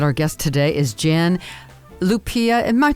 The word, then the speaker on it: Lupia: very excited that our guest today is Jan Lupia am my pronouncing your last name correctly Jan yesk people we we yes we're not worried about it it's Lupia Lupia whatever okay Jan I just don't like